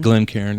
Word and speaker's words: Glencairn: Glencairn, yeah.